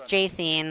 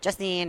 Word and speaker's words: Jacine: my mouth will not really is those jaysene and everyone's calling me Justin or Jason or so I know